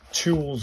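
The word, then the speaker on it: と: And then the last one we did uh in the last session was to o pronounced like the to o in tick tock.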